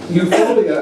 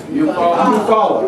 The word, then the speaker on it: Eufaula: Rosewood, Tulsa, Wilmington, North Carolina, Eupholia, I hope I'm pronouncing it right, Eupholia, Alabama. Anybody know about the election? Eufaula.